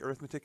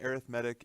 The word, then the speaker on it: arithmetic: arithmetic sequence and series that word arithmetic it is spelled exactly the same as arithmetic arithmetic is the noun arithmetic is the adjective okay so it's describing